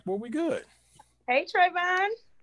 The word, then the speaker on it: Travon: Hey, Trayvon. How you doing? Is that the I am correct well. How are you?